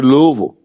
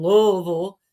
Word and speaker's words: Louisville: That's why I don't say Louisville.